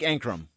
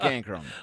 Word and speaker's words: Ankrom: player am I because I don't want to say his name wrong uh Jake anram that's how I'm saying it is there a better if there's a better pronunciation let us let us hear about it as usual we